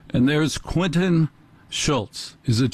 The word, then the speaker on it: Schultze: and there's Quinton Schultz is it Schultz or schy yeah Schultz I don't pronounce the E boy it's great to